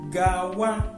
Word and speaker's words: Gawa: Another one is Gawa, go. So Gawa in Igbo is being spelled like this, G-A-W-A. Very easy, the way you pronounce it.